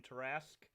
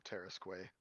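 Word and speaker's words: Tarrasque: on dnd beyond and type in tarask because mercer um mercer is the one who did does the pronunciation on it and he's very enthusiastic about the tarasque i still i still call it the terrasque that's the way i like to say it reflective cara pass oh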